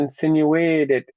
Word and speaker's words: insinuate: So, Insinuated. no, you see, you keep making way big, but it's not big. It's sin that's big.